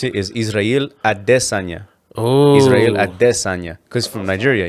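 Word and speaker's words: Israel Adesanya: way he really his real name how you pronounce it is israel adessanya oh israel because from nigeria you know sure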